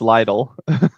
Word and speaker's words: Lidl: They're They're little snacks. He also said little. It's lidle.